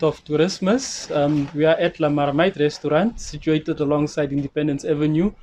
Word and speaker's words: La Marmite: Okay, I can first correct to pronounce La Marmite. La Marmite. La Marmite is in French, that means pot.